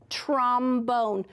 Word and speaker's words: trombone: This tells me a closed syllable. That says trom. And here I have a long O, bone, trombone.